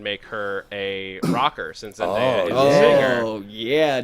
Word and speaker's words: Zendaya: The But- chat wants you to know that it's Zendaya.